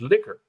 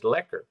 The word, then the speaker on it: lekker: because I swear I when I hear him say it it's liquor ah but see the way I would pronounce that is lekker oh is it it's